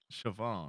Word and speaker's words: Shvonne: with your last name is it Siobhan chavone Siobhan okay just like it's okay